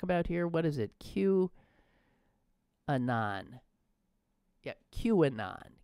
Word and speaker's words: QAnon: Q-anon. Yeah, QAnon. Q and then anon.